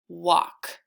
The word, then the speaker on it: walk: this L is silent let's look at a different one what och walk there that only has the one L so there is no L sound in that word because the L is